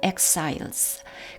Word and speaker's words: exiles: 그리고 요 단어도 강세 이름절 exiles인데요. 요 발음은 두 가지가 다 가능합니다. 만약에 여기에 그 발음을 집어넣는다면 같은 유성음이기 때문에 exiles 이렇게 되겠고요. 요 부분이 크로 발음을 한다면 같은 무성음 exiles가 되겠습니다.